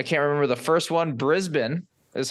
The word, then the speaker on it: Brisbane: we did I can't remember the first one Brisbane is how it's pronounced yep that was the first one then